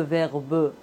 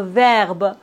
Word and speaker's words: verbe: On ne prononce pas le E final. Par exemple, le verbe, on ne dit pas le verbe, non. Le verbe, le téléphone, la rue, bienvenue.